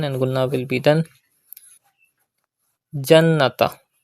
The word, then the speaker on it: الْجَنَّةَ: Jannata. Pronounce noon mushaddad with gunna.